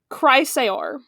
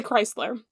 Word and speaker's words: Chrysaor: Chrysaor. That's how you say it. Okay? You got Chrysler, it? Like the car. Yeah, you could also say Chrysler.